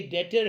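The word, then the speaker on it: debtor: डेटर कहते हैं, इसका जो प्रोनाउंसिएशन है ये डेटर है।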